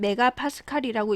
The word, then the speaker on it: MPa: MPA는 메가파스칼이라고 읽습니다.